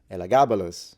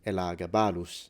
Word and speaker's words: Elagabalus: It could be Nero, it could be Caligula, it could be Elagabalus, or as it's pronounced in Latin, Elagabalus.